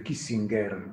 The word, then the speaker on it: Kissinger: un tedesco di origine, quel nome suo sarebbe Kissinger, come è giusto pronunciarlo alla tedesca, ma lui è completamente americanizzato.